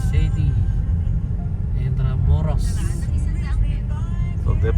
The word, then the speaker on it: Intramuros: City Indira Morris. So they pronounce it as Indira Morris.